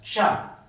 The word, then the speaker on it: क्ष: आना चाहिए, क और श का साउंड आना चाहिए। ठीक है, क्योंकि आप पढ़ रहे हो तो आपको पता होना चाहिए कि इसे शुद्ध रूप से कैसे प्रोनाउंस किया जाता है। क्ष, क्ष।